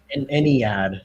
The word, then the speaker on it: Ennead: So an Ennead is how I just had my computer yell at me. Is how it's pronounced.